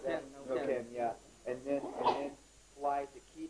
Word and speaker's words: Neuquén: How do you pronounce that? Neuquén, yeah.